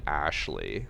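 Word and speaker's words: Ashleigh: seen one more like girl named Ashley but it's spelled like ax a s h l e i g h my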